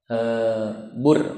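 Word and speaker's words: بُرّ: Bur, bacanya bur. Di situ barisnya bur kan? Ini bahasa Arab nih bahaya. Beda baris, beda arti. Kalau burrun itu artinya gandum. Kalau barrun itu artinya daratan.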